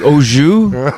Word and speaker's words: au jus: It looked like beef au jus.